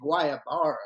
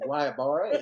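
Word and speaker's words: Guayabera: You just said Guayabara.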